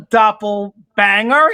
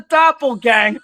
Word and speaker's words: doppelganger: It's like, he's not a doppelbanger. He's a doppelganger, whatever it was.